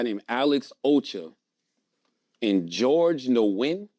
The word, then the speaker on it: Nguyen: McCoy, another guy named Alex Ocha, and George Nguyen. How you pronounce it, Chris? It's a Vietnamese name. Nguyen.